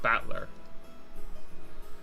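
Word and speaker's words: Battler: the characters for fight and person and it's pronounced batler put it all together and we've got yiro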